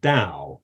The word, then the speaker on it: Tao: Chinese use the uh pronounce the word Dao as if with a d not with a t but it's spelled t-a-o